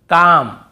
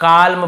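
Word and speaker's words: calm: एफ के एम इसके पहले एल हो तो हमें नहीं पढ़ना है जैसे काम बाम पाम और यहां पर आमंड बहुत से लोग आलमंड ऐसे बोल देते ब कालम बालम पाल्म नहीं होगा काम बाम पाम और आमंड ऐसे आलमंड आलमंड नहीं पढ़ेंगे ठीक है आमंड व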